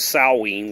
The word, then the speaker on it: Samhain: both ends and begins with sallying what you call salads it's spelled Samhain that's Halloween it's the